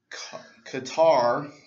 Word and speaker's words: Katar: introduced a new guy katar it's still Carter but I'm just like saying in phonetically so you understand there's a difference between Carter Hall and Katara Hall yeah from thanagar and